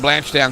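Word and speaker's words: Blanchetown: find waly from the blanch Down Club or blanch down when I'm in South Australia that's how you say it the 155 locky Shephard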